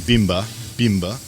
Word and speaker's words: Bimber: Bimber in Polish, it's pronounced more Bimber, but it means in Polish moonshine.